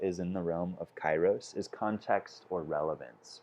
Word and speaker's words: Kairos: if most of us don't know how to pronounce this word. So let's all say it. Kairos.